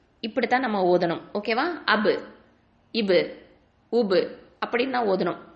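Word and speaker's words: ب: Back உண்டான மஹரஜ் என்ன? உதட்டின் ஈரமான பகுதியிலிருந்து உச்சரிக்கக்கூடிய எழுத்து. ஓகேவா? ஸோ அப், இபு, உபு அப்படின்னு சொல்லும் போது உங்களுக்கு அந்த ஈரமான பகுதி நல்லாவே உங்களுக்கு தெரியும்.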